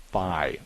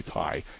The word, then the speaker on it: Thai: Faux and thigh restaurant. It's actually Thai. If you run into Lynn's story somewhere anywhere in life, ju just let her know. Say Lynn, it's actually pronounced thai, not thigh.